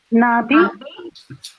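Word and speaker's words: 나비: Nabi. So this is the a sound and this is the e sound right? So this will become n plus a na b plus e ni nabi.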